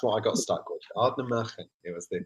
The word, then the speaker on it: Ardnamurchan: Ardnamurchan. That's what I got stuck with. Ardnamurchan.